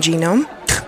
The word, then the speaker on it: genome: the what the human genome they're called gnomes they live under mushrooms what G is silent even I know that